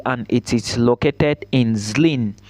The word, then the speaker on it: Zlín: This school is called Thomas Bata University and it is located in Zlín. Zlín is spelled Z-L-I-N.